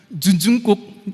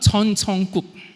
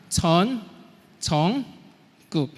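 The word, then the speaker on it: Jeon Jungkook: Cara baca nama ini bukan Junjungkook atau Junjungkook, tetapi Chon Chongkook. Nah bisa katakan bersama-sama, Chon Chongkook.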